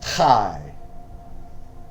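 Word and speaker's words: חי: But this word life, this word in the Hebrew is pronounced, I'm going to try to pronounce it, chai.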